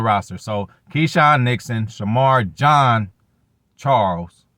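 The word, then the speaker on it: Jean-Charles: So Keyshawn Nixon, Shamar John Charles. Not, y'all. Get his motherfucking name right. I hate when motherfuckers say my name wrong and shit. So, Shamar Charles. My bad. Shamar John Charles.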